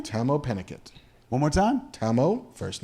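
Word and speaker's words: Tahmoh Penikett: That's how you pronounce that dude's name? Tamo Pennicott.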